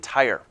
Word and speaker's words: Tyre: was a city of Tyre not like the stuff you draw you put on your cars this is spelled differently Tyr e is the capital city